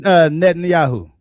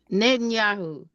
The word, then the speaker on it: Netanyahu: Benjamin Netanyahu. Netanyahu.